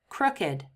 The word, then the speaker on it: crooked: So when these are used as adjectives, we have to pronounce them with id.